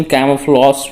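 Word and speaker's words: camouflage: इसका right pronunciation कैमोफ्लॉस पढ़ेंगे इसे।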